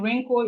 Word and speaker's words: wrinkle: The W in wrinkle is silent.